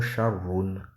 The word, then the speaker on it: شر: Parfois le mot Sharrun a le sens du ismu tafdil qui est Asharru. Le Hamza est omis à l'écriture et à la prononciation.